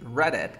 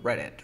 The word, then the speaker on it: Reddit: Así, Reddit, como diría el sabor. Reddit, Reddit. Reddit. Reddit. No ves que mira, DD, elimino el PRI. El Reddit. primero. Luego esta D, entre dos sonidos de vocales, ¿cómo sería? R. R, Reddit. R. Ahí está, mira.